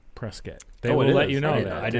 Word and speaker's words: Prescott: like Prescott Arizona a lot of people to pronounce it Prescott Oh Scott and it's Prescott they would let you know Charlotte so it's